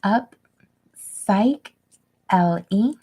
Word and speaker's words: Upsychelly: to remind everybody that upcycling is pronounced up psych l e so I've held this